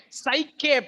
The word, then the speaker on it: psyche: CK, psyche plus logos.